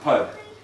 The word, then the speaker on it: pood: A pood in Russian are pronounced pud.